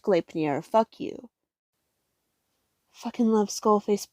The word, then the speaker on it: Gleipnir: That's how you fucking pronounce Gleipnir. I was fucking right. I was right all a fucking long. I shouldn't have doubted myself. It's pronounced Gleipnir.